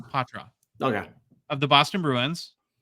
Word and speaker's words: Poitras: night because I watch lots of videos It's ptra okay of the Boston Bruins than Brock Faber